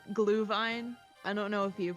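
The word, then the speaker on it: Glühwein: It's because it's like actually German, so the W sounds like a V.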